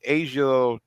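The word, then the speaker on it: A'ja: She had just won the Naismith Award for High School Basketball Player of the Year, and I think it's always mispronounced her name. It's Asia.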